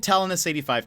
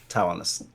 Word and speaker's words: Talonis: Where did Talonis85 come from? And can Ooh. you confirm the pronunciation? I think a lot of people would like that." Okay. The pronunciation is Talonis. Uh, or Taloni.